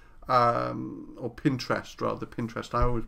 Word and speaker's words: Pinterest: just just like look at those boards on pinrest um or Pinterest rather Pinterest I always pronounce it wrong and it's been amazing it's